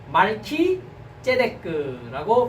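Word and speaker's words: מלכי־צדק: 자, 멜기세덱이라는 뜻은 말키제데크라고 발음을 합니다. 히브리어로는.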